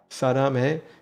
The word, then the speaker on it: 사랑해: Saddam hey? You've got it. 사랑해 sounds just like that.